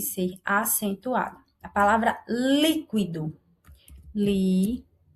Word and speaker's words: líquido: São 3 sílabas, ó. A do é a última, a qui é a penúltima e a li a antepenúltima. Olha o líquido. O li é a nossa sílaba mais forte e é a sílaba que é denominada de antepenúltima. Então, esta palavra é uma proparoxítona.